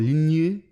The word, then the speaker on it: ligne: So lingerie, I was actually just searching it now, comes from mid 19th century, from French, from ligne.